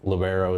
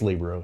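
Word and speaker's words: libero: And then you had Olivia Spencer who was our uh Libro or Lobero as they want me to call it, but it's Libro if you say it correctly.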